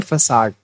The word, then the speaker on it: facade: अब देखिए जो वर्ड आया है इसको प्रोनाउंस करते हैं फसाड, ठीक है।